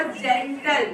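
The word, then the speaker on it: gentle: सी ई एन टी एल ई, ये होगा जेंटल।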